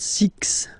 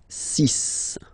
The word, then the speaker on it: six: be careful here because even if it's ending with this X well you'll have to pronounce it like S okay so you get the sis pronunciation cis sis okay so it's not six it's cis all right then here